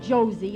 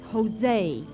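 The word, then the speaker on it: José: Josie turby it's not Josie it's Jose in Spanish J is pronounced like H oh well let's go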